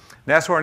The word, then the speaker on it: Nashorn: it maybe or so after the jdk releases nest warren is pronounced as horn and this is the german